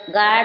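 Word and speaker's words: guard: इसी प्रकार गार्ड, गार्ड means चौकीदार। क्या हो रहा है? गार्ड, गार्ड मीन्स चौकीदार। यहाँ U, U के पहले जी आया है, U क्या है? साइलेंट है।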